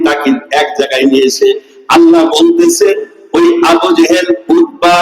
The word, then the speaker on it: আল্লাহ: আল্লাহর নাম উচ্চারণ করবো, আল্লাহ না, আল্লাহ।